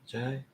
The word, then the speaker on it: Jai: Jai God, Jai. The J. I did the J sound. Right? It's a J sound, not a G.